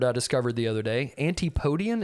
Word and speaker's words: antipodean: discovered the other day anti podian is that how you pronounce it K you would know uh antipodean yeah yeah that it means Australian